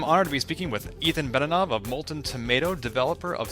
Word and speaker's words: Ethan Benanav: tuned today I'm honored to be speaking with Ethan banana of molten tomato developer of super happy fun